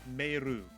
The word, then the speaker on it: Meiru: The anime, at least the dub of it, called her Meilu because they were using the lip movements from obviously the Japanese audio of the dub or of the anime, and because of how Japanese pronunciation works, her name was Meiru.